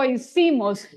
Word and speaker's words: hicimos: And then it says con efecto lo hicimos. And then the H is not pronounced. Probably, I know some of you have studied Spanish and others may not. The H is not sounding, so let's do it.